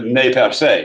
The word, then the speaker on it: Nez Perce: tribe now it's it's pronounced nez perce uh ernest purse but it's really never said uh it means pierced nose that's literally what the french had named these natives the napa say or nez perce and they were in